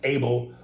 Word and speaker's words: Abel: with my name brother it's pronounced abel like cain and abel in the bible yeah